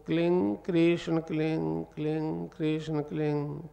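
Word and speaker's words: क्लीं: तो इसका उच्चारण होगा क्लिंग गह, पीछे गह की ध्वनि निकलेगी, क्लिंग क्लिंग क्लिंग।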